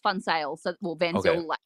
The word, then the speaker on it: Van Zyl: touches it yeah so um so it's actually pronounced fun sales in Australia because people can't save on sale